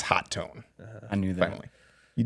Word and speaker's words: Hotone: Hotone, which is Hotone, hot tone. hot tone. I've actually confirmed it's hot tone.